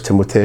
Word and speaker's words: Timothée: One, it is pronounced Timothée. It's supposed to be Timothée. It was Timothée.